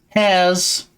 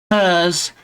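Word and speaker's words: Herr's: I'm now taking the hairs hers. However you want to pronounce it.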